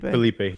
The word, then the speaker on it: Felipe: Philip Lins, or Felipe? Is it Felipe? Felipe.